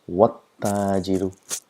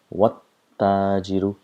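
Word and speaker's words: والتاجر: So what happens is we pronounce as though the letters don't exist at all. So pronounce it wat-tajiru, wat-tajiru.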